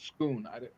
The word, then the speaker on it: Scone: It just It's like called the Stone of Scone, and it's spelled scone, but called Scoon.